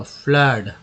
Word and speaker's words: flood: अब अ के रूप में भी आता है फ्लड, जैसे FLOOD, यहाँ पर डबल ओ का उच्चारण अ के रूप में हुआ, फ्लड।